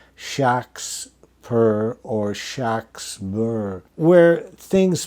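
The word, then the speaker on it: Shakspere: orally to say a clerk um he always pronounced it Shak spur and so the clerks always wrote shocks perr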